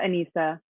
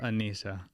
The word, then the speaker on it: Anesa: Instagram at Anesa. So it's SASHAANESA. Boom. Boom. Yes. Anesa. Yes. With no accent on the S's or anything.